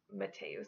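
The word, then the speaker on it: Mattheus: Some people will try to pronounce this name as Mateus. This name is not pronounced that way, but if you spell it M-A-T-T-H-E-U-S, that is a Latin form of this name and it is pronounced Mateus, like I mentioned earlier.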